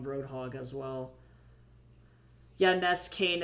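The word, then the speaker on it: Nskain: Ness Kane. It's spelled N S K A I N.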